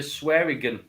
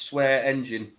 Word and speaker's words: Swearingen: No, you're right, because she messaged me and said it's Swear Engine. Yeah. Which it's not spelled like engine, but guess what?